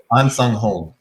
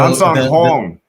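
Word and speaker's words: Ahnsahnghong: It's Ansang Hong. So Ansang Hong. There's a Hong. Yeah. Ansang Hong. Okay. Ansang Hong. But it's almost a double O.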